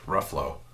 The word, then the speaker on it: Ruffalo: name again Mark Ruffalo oh sound like Ruffalo Ruffalo like Buffalo with an R I like the Avengers